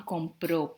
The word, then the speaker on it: compró: Look at these two sentences and listen to the pronunciations. Yo compro pan en el supermercado. Juan compró pan en el supermercado.